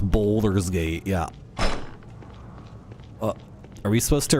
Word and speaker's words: Baldur's Gate: Pronounced boulders gate.